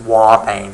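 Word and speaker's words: ouabain: bane but it's pronounced War pain as though there's a w at the front Okay so these are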